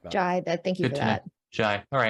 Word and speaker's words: Ghey: Manchester Vigil as well, and apparently you don't pronounce her name Gay. Her name is pronounced Ghey.